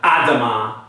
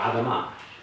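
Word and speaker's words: אֲדָמָה: I think just soften the D and that's enough. Adam, Adama. It's not Adama or Adama. It's more soft. Adama, Adama.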